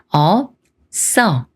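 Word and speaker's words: 없어: 어가 만나서 서가 돼요 첫 글자는 어 다음에 비읍 받침 소리인 읍을 붙여서 업이라고 읽고 그다음에 서를 읽는데 비읍 받침이 옷을 만나면 시옷이 쓰 소리가 되면서 써라고 읽어요 그래서 업써 업써 이렇게 비읍시옷 겹받침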